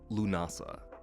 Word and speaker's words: Lughnasadh: In Celtic tradition, it's pronounced Lunasa.